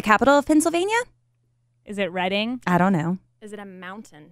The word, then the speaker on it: Reading: And she says it's pronounced Reading. Red like the color. Okay. But it's written Reading. R-E-A-D-I-N-G.